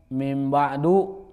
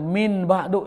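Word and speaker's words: من بعد: Misalkan mim ba'du tapi dibacanya min ba'du itu salah ringan karena dia tidak mematuhi hukum apa? ee iqlab saja atau misalkan minyar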